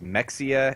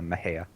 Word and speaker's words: Mexia: yeah yeah okay so here's how you pronounce the name of this town Maha hey marara yep yeah yeah it's like it's like like you know some people would think it was Mexia and then people who you know know how to pronounce Spanish would think it would be like Mahia or something or Mia but no it's a Maha that's where um oh